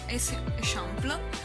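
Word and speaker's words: Eixample: dell'ex sample che poi in realtà ho scoperto si pronuncia e sempre e poi andiamo alla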